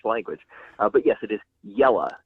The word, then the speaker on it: Jelle: But yes, it is Jelle, just like yellow but with an on the end. Jelles.